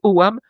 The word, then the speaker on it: ogams: Les ogams, enfin on prononce owam, Ah.